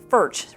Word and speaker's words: Ferch: had but just remember ferch rhymes with church you